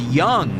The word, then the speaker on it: Jung: It's pronounced young.